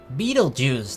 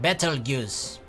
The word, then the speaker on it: Betelgeuse: moonlight Orion shone brightly you can still see Betelgeuse that's how it's called right not better goose re0